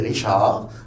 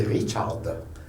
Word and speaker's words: Richard: En français, on dirait Richard, mais en allemand, c'est Richard.